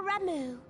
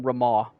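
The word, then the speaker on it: Ramuh: queens floating ones that worship the primal ramu that's how you pronounce it that actually is very surprising for years i've been calling him rama wow i'm a fake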